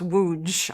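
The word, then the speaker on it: Łódź: Oh yeah, Wuj Loj. It's pronounced Wuj.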